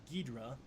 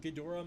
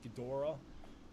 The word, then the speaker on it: Ghidorah: I'm gonna assume you're saying Ghidra pronunciation. I'm pretty sure even the novelization used it at one point. That's true. I feel like straight up any other Ghidorah mispronunciation that people make